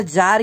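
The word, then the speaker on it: Tsar: इन 1914 में जार Nicholas, यानी अब यहाँ पर जार क्यों है, टी साइलेंट होता है, जार इसलिए है क्योंकि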